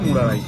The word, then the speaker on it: মুরারই: Train আমাদের ছেড়ে যাচ্ছে মুরারাই। আমরা আমার একটা জিনিস ভুল হয়েছে, উচ্চারণে ভুল হয়েছে, সেটা আমি বলছিলাম মুরারাই, অ্যাকচুয়ালি মুরারাই না, মুরারই। তো মুরারই ছেড়ে আমরা বেরিয়ে যাচ্ছি, পরের স্টপেজ হচ্ছে পাকুড়, যেটা পড়ছে ঝাড়খণ্ডে।